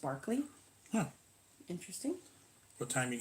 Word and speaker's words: Berkeley: was a bad example Berkeley in the UK is pronounced Berkeley huh interesting what time he goes on 10:30 a.m.